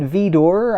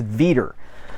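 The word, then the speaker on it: Vidor: Um, and and you know, you might be you might be thinking like, well, is it Vor? I always heard it was V. It's Ver. He pronounced he I I read in my research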